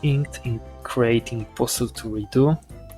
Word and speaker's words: Redux: calling postal redo postal redux or postal redux. I didn't know the X is silent.